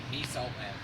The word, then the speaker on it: Mies Outland: How do you pronounce that name there on there? Mies Outland.